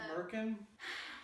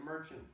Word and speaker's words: merkin: So, Merkin? yeah, I don't know what that means. Or is it merchant? It's merkin. Merkin. Yeah, because urchin is spelled with CH, if that's what you're thinking of.